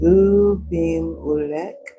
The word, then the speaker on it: Abimelech: That is for, it's pronounced Ubim-Ulek.